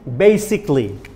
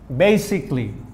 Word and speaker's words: basically: its pronunciation should be basically basically b a i c basic lee a is silent a will be eliminated basically basically okay converted